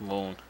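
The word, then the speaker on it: Mun: It's actually pronounced moon, which is something that I found out not too long ago.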